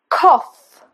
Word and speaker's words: cough: Cough, cough, cough as in off.